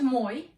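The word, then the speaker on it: мой: with the stress mark the word moi contains a consonant ikratch and there is only one syllable and the stress is on or because in monosyllabic words the stress falls on that only vowel in the word my e we have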